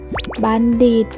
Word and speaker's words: บัณฑิต: คุณ ครู นะ คะ บัณฑิต อ่าน ว่า ว่า บัน ดี แปล ว่า ผู้ รู้